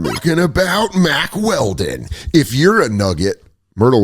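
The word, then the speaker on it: Mack Weldon: And that's what I like about Mac Welding. Mac Weldon. I keep saying it wrong.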